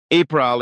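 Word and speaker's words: Ypral: Ipral is spelled with a Y and pronounced U. That is the same for all names beginning with Y.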